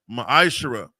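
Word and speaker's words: מעשר: verses 8 through 10, means 10th in the Hebrew. It's pronounced ma'ashara.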